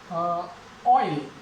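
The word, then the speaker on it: oil: जैसे ऑयल, ऑयल ले लेते हैं केवल, ओ ई की साउंड, ऑयल, ओ ई, ऑयल।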